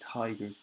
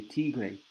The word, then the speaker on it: tigers: But also be careful with the I, the pronunciation. We say tigers. Probably in Spanish you say tigre, like el tigre. I know there is a bar in Madrid. There are 3 bars that are very good in Madrid, and the name is el tigre. So the pronunciation in Spanish is probably tigre, but in English it's the tiger.